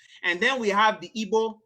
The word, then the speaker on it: Igbo: And then we have the Igbo. The G is silent because real G's move in silence like lasagna.